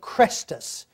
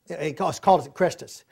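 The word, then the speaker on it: Chrestus: a conflict between Jews by the name of Crestus. He calls it Crestus. He mispronounced it.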